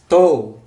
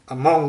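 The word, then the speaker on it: 門: Bacanya tou atau mong juga. Mong atau tou.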